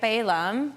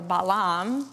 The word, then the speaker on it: Balaam: local powerful sorcerer right Balaam or balam depending on English or Hebrew pronunciation to come and curse